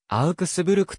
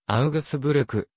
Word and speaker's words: アウクスブルク: としばしば称されるなお標準ドイツ語ではアウクスブルクと発音されるが日本語では g オタク御で読みアウグスブルク合うフェスブルー部などと表記される場合もある 2019 年アウクスブルクの